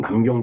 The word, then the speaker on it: 난징: 한번 그 살펴 보니까 어이 중국 발음으로 난쟁 조약이죠. 우리 그 우리가 한자를 그대로 우리 식대로 읽는다라면 남경 조약이 됐을까? 남경 있죠.